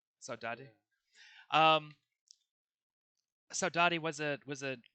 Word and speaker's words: Saudade: Is that how it's pronounced? Saudade.